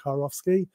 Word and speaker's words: Kurowski: so you have to visualize a guy called in a car going off skiing you then get car off ski that to do for